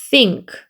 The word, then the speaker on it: think: TH는 번데기 발음이기 때문에 아랫니 윗니 사이에 혀를 내미고 바람 나가는 소리 라고 하셔야 되고요. NK는 그러니까 소리에 크 소리 나서 think 이렇게 됩니다.